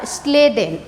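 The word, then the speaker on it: Schleiden: तो German botanist जो थे, जर्मन बोटनिस्ट जो थे उनका नाम था स्लाइडेन, SHLEI, स्लाइडेन। ठीक है, कई लोगों को स्पेलिंग में काफ़ी ज़्यादा मिस्टेक होता है। स्लाइडेन इसको कहा जाता है, इनको कहा जाता है।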